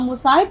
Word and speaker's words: مصاحب: مرحوم بہادر شاہ آموں کے موسم میں چند مصاحبوں کے ساتھ، اب مصاحب تھوڑا سا مشکل لفظ ہے اس لیے آپ